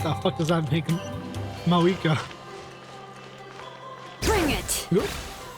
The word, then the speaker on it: Mavuika: If she's a hag, what the fuck does that make Mavuika? Bring it! You say Mavuika, I say Mavuika, even though I absolutely do not pronounce that fucking V.